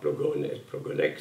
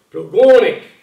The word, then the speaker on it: Plogonec: on arrive à Plogonec, il me dit mais non c'est pas Plogonec, c'est Plogonec, c'est-à-dire que là j'ai compris d'un seul coup l'importance de l'accent tonique. Si je respecte pas l'accent tonique, le mot est incompréhensible.